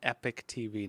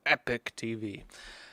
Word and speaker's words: Epoch: All right, folks, that said, let's jump over to Epoch TV, or I'm going to call it Epoch TV now. I'm trying to get rid of the British pronunciation, Epoch TV.